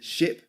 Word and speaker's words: ship: Okay, ship is a short sound.